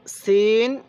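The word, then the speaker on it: سين: এরপরে সিন শিন, সিন শিন। দেখুন সিনের আওয়াজটা চিকন, শিনের আওয়াজটা মোটা।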